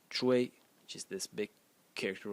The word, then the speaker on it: 隹: In this video, I'm going to talk about phonetics, a phonetic series that is led by the title phonetic character, which is pronounced chu, which is this big character over here.